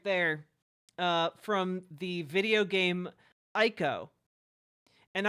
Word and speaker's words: Ico: from the video game Ico. And I know it's supposed to be pronounced Eco, but I refuse to